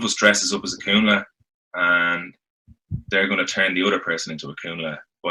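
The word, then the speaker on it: Cúnla: like moving, like the Kunla one. Am I pronouncing that right? Kunla? Yeah. No, yeah. Yeah. You're on the ball.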